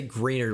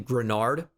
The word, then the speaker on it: Grenard: I always want to say Greenard when I see his name, but it's Jonathan Grenard.